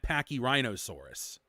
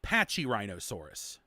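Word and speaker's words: Pachyrhinosaurus: um how I say pachy sealosaurus now and pachy rhinosaurus why have changed it or is it because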